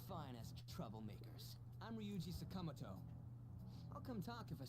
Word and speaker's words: Sakamoto: In Japan, they don't stress syllables as hard as we do. So, like, in the way they're pronouncing it in the game, each syllable, like, no syllable stands out over the other. But when you say Sakamoto, we're putting more stress on the first syllable. Which is apparently not a thing that they do in Japanese.